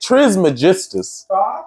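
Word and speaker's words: Trismegistus: Magistas that's that's literally how you say it Tris Magistas it sounds like something from a TV show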